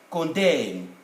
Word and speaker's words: condemn: is preceded by m normally this end would be silent in english so we write like that with an m and at the end but you don't pronounce it condem damn but if you